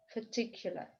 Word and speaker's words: particular: Particular, particular, конкретный. Смотрите, буква A и буква R и здесь дают звук шва. P, particular, particular, particular. Под ударением у нас второй слог T.